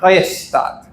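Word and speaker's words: Rechtsstaat: Lo primero, aquí tenemos una palabra alemana, no va a ser la única que nos encontremos durante la actividad, se pronuncia restat.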